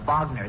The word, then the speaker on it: Wagner: And naturally, I know that particular piece is by Wagner. That's pronounced Wagner, son.